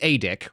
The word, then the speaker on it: ADIC: charge when you are the adick which yes it that's how we pronounce it adic adick when you're the adick